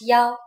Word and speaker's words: 幺: When we talk about numbers like telephone numbers, bus numbers, and so on, we pronounce 1 as 幺. For example, a bus number 101 is pronounced 幺零幺.